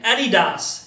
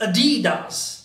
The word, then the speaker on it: Adidas: what is this very famous brand how we pronounce it pretty smart yes many times people call it Eddie does it's not Eddie - simply a D does how do we call it D does German